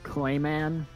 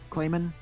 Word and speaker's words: Klaymen: will by the way the npcs name is klaymen klaymen klaymen that's how it's pronounced did I call him